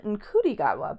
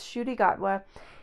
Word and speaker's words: Ncuti Gatwa: You might be tempted to pronounce his name Ncuti Gatwa, but according to Wikipedia, it's Ncuti Gatwa.